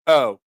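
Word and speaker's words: eau: That French for water and pronounced O. O? E-A-U is pronounced O?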